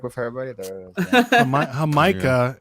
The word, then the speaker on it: jamaica: like with everybody there hamikah is how you say it in Spanish that's Jamaica what do